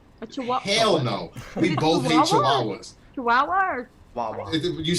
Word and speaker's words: Chihuahua: We both hate Chihuahuas.